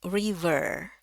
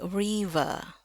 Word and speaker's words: river: R-nya enggak bunyi, bukan river ya, tapi river ya. Dia cuman sampai bunyi e-nya aja.